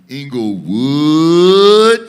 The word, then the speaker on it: Englewood: for two seconds and pronounce inglewood the way that you actually say it and that is englewood so on the count